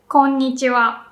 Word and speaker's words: konnichiwa: If I say it quickly, I say konnichiwa. And maybe it's kind of hard to hear low and high, but ko is pronounced with a low pitch, ko, and then the rest goes up.